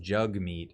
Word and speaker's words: Jagmeet: And NDP leader Jagmeet Singh, it's pronounced Jugmeet, but it's with an A.